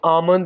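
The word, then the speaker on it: almond: बादाम को इंग्लिश में आमन बोलेंगे यहां पर हम एल को साइलेंट रखेंगे आमन आमन का माना क्या होता है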